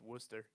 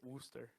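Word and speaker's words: Worcester: do you pronounce it Wooster but it's spelled like Worchester it is right okay that's not yester okay a British pronunciation okay that makes sense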